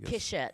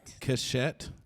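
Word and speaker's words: cishet: it sis head like kishit kishette but it's spelled c-i-s-h-e-t so why don't we just pronounce it cashette because it sounds too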